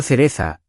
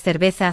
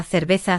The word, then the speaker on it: cerveza: Historia rápida para que no te pase, una oyente contó que dijo, quiero cereza, en un bar, con la V, floja, queriendo pedir cerveza, y el camarero se rió pero la corrigió con cariño.